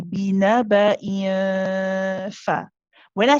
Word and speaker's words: بنبأ: But when I say binaba, remember we said for the ikhfa, you're not pronouncing the next letter yet. You're just getting ready for it. Okay, so you get close to it, but you're not pronouncing it whilst you do the hunna.